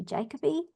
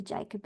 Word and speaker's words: Jacoby: board well thank you you gave me the English pronunciation of my name jacobe so I I say jacobe but a lot of people in England say jacobe so but either one is acceptable fantastic fantastic my my